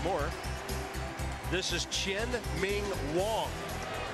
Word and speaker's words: Wang: this is Chin Ming Wong spelled Wang but pronounced Wong and this guy is